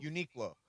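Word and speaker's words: Uniqlo: So, if you're How do you pronounce it? Unique Low? Unique Low.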